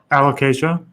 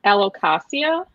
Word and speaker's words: Alocasia: most of my allocations how do you say Alocasia by the way Alocasia okay that's how you say it yeah cuz I've heard people say it l Ocasio okay so I'm going